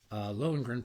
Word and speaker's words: Lohengrin: I think it's pronounced, Taya, help me out, Lohengrin. Close. Lohengrin, pronounced L-O, upside down, dui, doing, two, point, two, wop, wop, wop, wop.